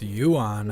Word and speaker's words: Yuan: East with Africa with Francis I guess it's Yuan I know that's how it's pronounced White House we've added 20 trillion to